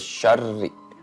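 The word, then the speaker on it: شَرِّ: Maaf, ketika nun pada kata min dibacanya itu jadi ming karena ada hukum ikfa dan ada tasydid di huruf ro. Jadi dibacanya syarri min syarri min syarri maa khalaq.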